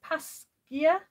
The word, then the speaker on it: Pasquier: So it was Laurence Pasquier. It's spelled L-A-U-R-E-N-C-E, and then the surname is P-A-S-Q-U-I-E-R.